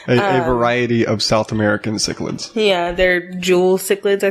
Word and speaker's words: cichlid: How do you say that? Chicklets? Cichlids. Chicklets? They're not chicklets.